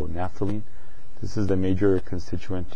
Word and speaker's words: naphthalene: Okay, we're asked to name this compound, and this compound is just naphthalene, and it has strange spellings. PH is pronounced as an F, so naphthalene.